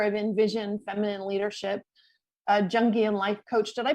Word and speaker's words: Jungian: a the founder of Envision feminine leadership a jungian life coach did I pronounce that right it's yungan see I should have asked you first oh